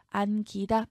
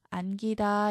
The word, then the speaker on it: 안기다: 자, 이때 기는 된소리로 발음하면 안 되고 안기다, 평음 그대로 발음해서 안기다 이게 맞는 발음이죠.